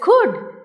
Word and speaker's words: could: When there is could even though there is l we know that it is silent.